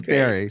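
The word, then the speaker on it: Barre: She's the co-founder of the Insight Meditation Society and God, and I remember you were talking about the pronunciation, Barry Mass, correct? Barry Mass. It is Barry.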